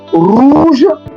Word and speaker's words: rouge: Anywhere the letter R is found, it is always pronounced with force. So we have it as in R. So we have rouge, that is red, rouge, as in red.